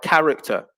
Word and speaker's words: character: we can also see a similar effect with a silent h in words like character and chord so the words are pronounced as if the h doesn't exist in both cases but